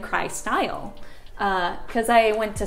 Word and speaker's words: Kry-Style: How do you pronounce it? Kry-Style.